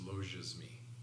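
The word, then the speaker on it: logismoi: g i s m o i but the pronunciation is loges me that's just the english transliteration logia's mere thoughts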